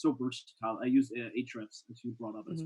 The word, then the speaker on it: Ahrefs: stuff and other systems i never understood how to say it though it's technically like age reps right but yeah i call it yeah ahrefs i think now you've